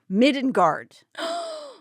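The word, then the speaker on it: middangeard: The old English version is pronounced midenguard.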